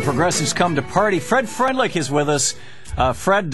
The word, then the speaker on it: Freundlich: Fred Freundlich is with us. Fred, your last name in German would be Freundlich. Right. How do you say it? Pretty close to that. Oh, great. Exactly that.